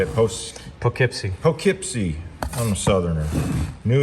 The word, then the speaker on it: Poughkeepsie: Poughkeepsie.